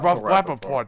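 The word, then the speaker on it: Rapaport: Oh, Rapaort.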